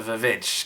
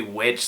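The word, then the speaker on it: VVitch: trailer for The like the witch or is it the vich cuz the way they spell it in the trailer looks like two v's but it's supposed to be witch so I don't know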